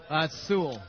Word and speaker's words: Sewell: Sewell.